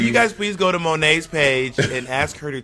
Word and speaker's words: Monét: say my name Manang my name is mone mone not Monnet money I have an accent